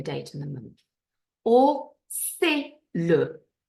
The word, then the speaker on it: c'est le: Where are the silent letters in c'est le? Let's see if you manage to identify that the S is silent and the T is silent.